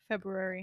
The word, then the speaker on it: February: February. And I refuse to pronounce the first R.